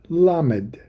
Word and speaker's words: Lamed: So instead she named him simply L, the the letter L, which in English is pronounced L and is rendered lammed in Hebrew.